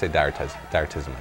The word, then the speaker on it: Direttissima: I say Direttissima now.